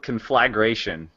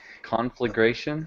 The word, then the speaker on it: conflagration: think they're different words it's spelled like it sounds right a con and then a flag and then a ration configration H that's how I've